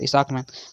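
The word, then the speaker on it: Isaacman: भी सा है तो इसको उच्चारण करिएगा इसाकमैन जेरेड इसकमैन नेक्स्ट है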